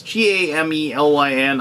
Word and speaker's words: Gamelyn: It's Gamelyn. I do apologize, Scott. I probably should have asked you how to pronounce that before I told you I'd do this video for you.